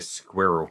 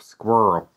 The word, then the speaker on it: Squrl: am loving that so fierce beer squirrel or squirrel as the americans might pronounce it and i think they've